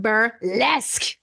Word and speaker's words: burlesque: one do you want to see okay it's pronounced bur Les and it does it screams lesk it's a